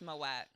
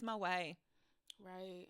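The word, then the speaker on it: Moët: tea I just found out moette is not pronounced moette the tea in French is silent it is Mo right we we are all just classless animals out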